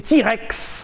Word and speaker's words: TRX: cool en plus il existe en TRX prononcé T-Rex 707 chevaux dans un